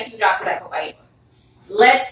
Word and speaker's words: copaiba: Copaiba, did I pronounce that correctly? Yes, you did. Copaiba.